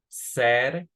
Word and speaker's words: said: Pero este se pronuncia said, a little bit like this. Said, como con una E.